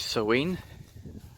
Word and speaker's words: Samhain: It's Samhain, or Halloween today. Samhain if you happen to read it literally, but it's not pronounced anything like that.